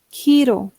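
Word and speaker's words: hero: Giro. La e se pronuncia como i. y la H como J.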